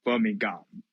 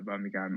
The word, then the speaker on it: Birmingham: Often we will ignore the pronounce of H.